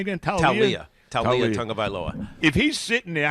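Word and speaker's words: Taulia: Talia Tagovailoa.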